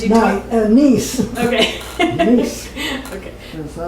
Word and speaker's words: Nice: Is it pronounced Nice or Nice? It says you taught. Nice.